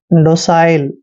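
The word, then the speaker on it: docile: डालना next word देखिए डी ओ सी आई एल ई डी का उच्चारण ड करते हैं ओ को ओ की मात्रा पढ़ते हैं और सी आई का उच्चारण साई करते हैं साई एल ई को ल पढ़ना है डोसाइल दोस्तों डोसाइल मींस क्या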